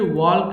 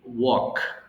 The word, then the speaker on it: walk: এল ইজ the silent letter here, so we don't need to pronounce l in this word, so it should be simply walk.